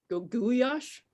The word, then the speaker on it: goulash: I mean, it's just like goulash, it's not goulash, it's goulash. And that's how it's pronounced, and that's how I pronounce it. I'm sorry, you were saying something, Rachel. Go ahead. Oh, first of all, I didn't know that that's how you pronounced goulash. Goulash, yeah. It's Hungarian, so yeah.